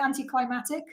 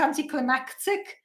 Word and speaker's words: anticlimactic: I've always pronounced it anticlimactic, like climatic. And I discovered it has another C in it, and it's actually pronounced anticlimactic.